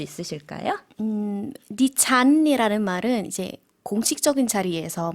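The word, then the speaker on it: ดิฉัน: ด ิ ฉ ั น 네, 니찬이라고 발음해 주셨는데요. 는 내려가는 일성 발음이고요. 잔이라는 거는 삼성과 같이 올라가는 발음으로 해주시면 되겠습니다.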